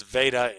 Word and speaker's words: Veda: Okay, and that's Veda, Vedas is pronounced Veda.